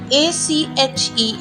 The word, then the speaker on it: ache: H is not pronounced when it is after C or after W.